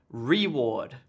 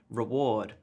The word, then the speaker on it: reward: correct stress here so here is the incorrect stress like I was saying I was saying reward but in fact the correct stress on the syllable would be reward reward reward this gets stressed and